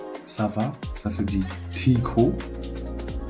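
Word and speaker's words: ठीक: TH, c'est pas un son qui existe en français, ça se prononce te. Et le E, les deux E qu'il y a ici, c'est un I prononcé d'une manière longue. Donc ça va être Tiko.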